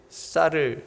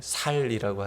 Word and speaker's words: 쌀: 우리 경상도 분들이 쌀을 잘 발음을 못 하신다 그러잖아요. 살이라고 한대잖아요.